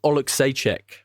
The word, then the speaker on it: Oleksiejczuk: Mikhail Oleksiejczuk. Is that it? That's how you say it, yeah.